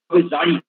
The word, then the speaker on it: জারি: জারি গান, আসলে এটা বাংলায় জেড এর উচ্চারণ হয় না, এটা হবে জারি।